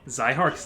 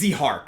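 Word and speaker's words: Zihark: So I guess we've been saying Zyhark's name wrong. Yeah, it's Zyhark. Zyhark, and this is proven because Fire Emblem Heroes has a voice actor and he says his name.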